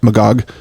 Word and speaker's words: Magog: When we stayed in Magog. Is that how you say it? Magog. Magog. We stayed in Magog. With the emphasis on the second syllable.